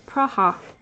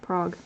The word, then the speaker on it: Praha: And apparently it's Praha. Praha, not Prague.